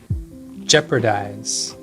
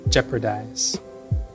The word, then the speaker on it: jeopardize: Jeopardize. Jeopardize. Although it's spelled P A R, I always pronounce it P R A.